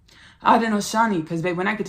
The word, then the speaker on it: Haudenosaunee: I wanted to pronounce their name correctly. Haudenosaunee, because babe, when I get to channeling, sometimes, baby, I start pronouncing things incorrectly.